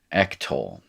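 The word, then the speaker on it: אֶקְטֹל: And then you're going to have, instead of a short I, you're going to have a short E, the segol here, ectol.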